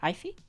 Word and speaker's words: Aoife: I forget how to pronounce this word. This name is Aoife.